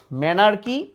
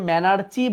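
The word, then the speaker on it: menarche: কি, এই যে দেখো ম্যানার্কি, এটাকে আবার আগের বইয়ে ম্যানার্চি বলতো, বাট উচ্চারণ ম্যানার্কি, পিউবার্কি, থ্যালার্কি।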